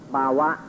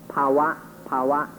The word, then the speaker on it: bhava: In Pali we call this bhava, or in the Thai pronunciation, bhava, is this ignorant illusion of self.